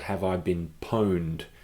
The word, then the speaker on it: pwned: called have I been pwned that pwn edie is pronounced pound have I been pound and pwned just look